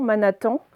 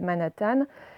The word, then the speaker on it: Manhattan: au sud de manas alors vous avez peut-être lu tant manathan mais en fait on va là prononcé à l'américaine manhattan c'est un quartier de new york qui s'appelle manhattan bon si vous avez